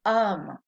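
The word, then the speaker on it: homme: about the letter h do we pronounce h in french no it's always silent so what's the word for man an um right h-o-m-m-e so if you see the word um it starts the vowel sound so it's not just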